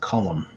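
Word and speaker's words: Colm: yeah i'm curious um what ethnicity is oh this first name is pronounced column irish descent i was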